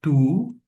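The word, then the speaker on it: τοῦ: Observe que está no caso genitivo porque nós temos a terminação em tongo omiclon e y que dá esse som de u. Por isso eu fiz a seguinte pronúncia tu.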